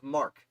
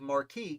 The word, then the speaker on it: marque: They were given what's called letters of marque, that I've mispronounced most of my life as letters of marquis because that's how they're spelled, because French.